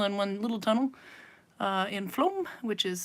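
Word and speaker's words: Flåm: So Ager Brewery, that symbol there, that is in our neighbor town of Flom. It's only 2 tunnels away, one long tunnel and one little tunnel in Flom, which is spelled F-L-A with a circle over it.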